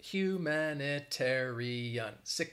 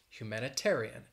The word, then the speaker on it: humanitarian: sound it out human humanitarian six syllables and the stress is on that four syllable that tear humanitarian humanitarian so hopefully that's